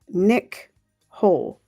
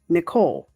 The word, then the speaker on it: Nichole: Third sentence of day one is Nick Hole. Nicole. But I think because it's spelled Nichole, I say Nick Hole.